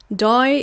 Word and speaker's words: die: Die in Dutch is pronounced as D, and D is pretty much means that one, or like that.